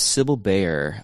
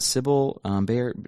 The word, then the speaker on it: Sibylle Baier: I think I'm pronouncing that right. I've always pronounced it Sibylle Baier. She is German, so I don't know if it's pronounced a different way. But Sibylle Baier is how I've always heard people say it.